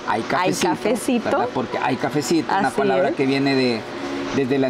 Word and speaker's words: ICafecito: redes como hay cafecito se escribe y cafecito y se pronuncia Ay cafecito porque hay cafecito desde